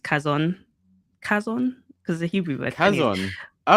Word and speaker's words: Chazon: So my actual my actual um like development profile was uh Chazon. I know it's ch but it's actually pronounced Kazon.